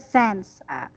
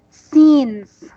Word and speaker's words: scenes: word yes yes sense you said sense but it's scenes in scenes okay okay